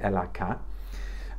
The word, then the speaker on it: Ella K: A new brand as well called Ella K, or I think we're meant to pronounce it the French way, Ella K.